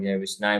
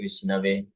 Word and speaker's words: विष्णवे: विषय बोलते हैं और जो अच्छे से कर सकते हैं व विष्णवे बोलते हैं लेकिन दोनों ही समान